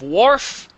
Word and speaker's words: wharf: travelers too excellent yeah that one word that threw you off is warf for the men in the class that know star trek just think of wharf that's the same pronunciation wharf is like a